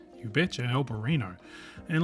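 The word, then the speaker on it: Albariño: We tasted their standard stuff, and then also that, let's check the pronunciation. Albarino. You betcha, Albarino.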